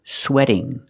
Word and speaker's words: sweating: sweat with ing then the T changes to a fast D and you hear sweating sweating sweating it sounds like wedding sweating wedding it's a fast D because the t is between vowels he's sweating a lot